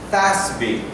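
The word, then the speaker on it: FASB: it's called fin Cal Accounting Standards Board it's pronounced as in English fby and fby is the institution all accountants get together they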